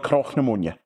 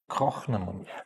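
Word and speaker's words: Cnoc na Mòine: Crochnamonia. That's the pronunciation that we are going for. It doesn't mean that it is the definitive pronunciation, but it's what we had to decide on, the one that we were going to go with.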